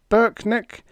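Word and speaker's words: Brknk: My name is Burkeneck, pronounced Burkeneck and spelled B R K N K.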